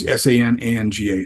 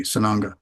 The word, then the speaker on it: Sananga: So it's spelled up above cat. It's Sananga, Sananga.